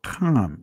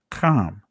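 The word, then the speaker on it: חם: These are the sons of Ham or Cam. That's the proper pronunciation. Cam.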